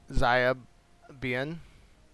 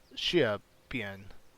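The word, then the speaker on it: Xiapi: Xia Bien, I believe is the way to pronounce that. And bear with me, I am trying to learn the proper pronunciations of the Chinese names. So I've got a little cheat sheet here and doing the best I can. But I believe the X is like an SH sound.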